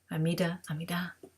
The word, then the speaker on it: Amidah: Amidah, whichever syllable you prefer the emphasis on.